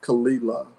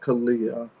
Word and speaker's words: Kalila: Like you say her name is Kalila, not Kalia.